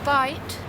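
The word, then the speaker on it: bight: Take the third, do it up, open up the loops, and poke a bite through the loops. Now, do you know what a bite is? A bite is spelled B-I-G-H-T, and it is just a loop without pulling all the way through.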